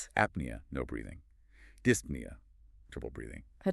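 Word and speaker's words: dyspnea: p nea breathing the p is silent just to annoy us of course apnea no breathing dispnea trouble breathing petinia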